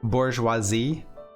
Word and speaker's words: bourgeoisie: looked this word up apparently you pronounce it more or less bourgeoisie something like that um okay so we